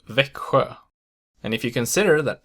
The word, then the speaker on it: Växjö: XJ only occurs in the place name Växjö, and if you consider